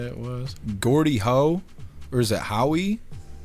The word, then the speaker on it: Gordie Howe: Yeah, Gordie Howe.